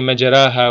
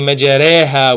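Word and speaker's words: مجراها: No one in Surah Yunus reads Bismillahi majaraha wa mursaha. How do you read it? Bismillahi majareha wa mursaha.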